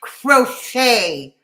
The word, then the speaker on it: crochet: caught crocheters amazing crochet it's pronounced crochet crocheter crochet repeat after me crochet good God it's French DC I would not